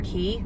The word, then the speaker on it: Quay: nerd black ones from key spelled quay i was corrected one time it's pronounced key but i love these